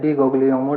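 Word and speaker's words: Di Guglielmo: से लिखा रहता है, डी उसको जो है प्रोनाउंस करते हैं डी गोग्लियोमो डिजीज।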